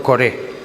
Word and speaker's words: Coré: Todo el que perteneció a Corá y todos sus bienes, perdón, he dicho Corá porque así se escribe en hebreo, pero es en español se traduce por Coré.